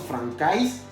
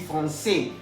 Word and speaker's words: français: Ya habíamos visto hace unos minutos atrás que la AI se pronuncia E. Entonces no diremos francais, vamos a decir français. A saber lo siguiente también, que la S final no se puede pronunciar.